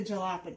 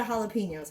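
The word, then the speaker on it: jalapeños: you but it just seems like why the Jalopy why in the jalapenos I'll say it right for you guys so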